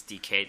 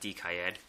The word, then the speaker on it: Decade: I guess it's Decade, not Decayed. Pronouncing it wrong the whole time.